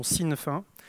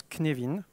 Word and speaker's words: Cynefin: Certains connaissent sous la prononciation Cynefin, mais pour les personnes qui connaissent le gallois, ça se prononce Cynefin.